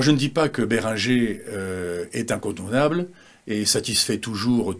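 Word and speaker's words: Behringer: moins bons et justement Béringer excusez-moi je le prononce à la française fabrique une gamme de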